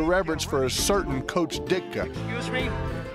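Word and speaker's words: Ditka: for a certain coach dicka excuse me Wrigley Field pronounced dicka my friend the occasional heart attack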